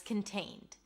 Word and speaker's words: contained: Kin, and then tain. A T sound, A as in day, and then N.